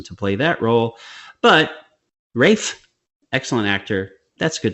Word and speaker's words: Ralph: I mean uh what Rafe why is it called pronounced Rafe when it's spelled Ralph they're funny because they're funny out there because they don't like to say Ralph Patrick Roy anyway Ray